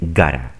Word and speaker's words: gotta: Y aquí el got to, simplemente dicen gotta.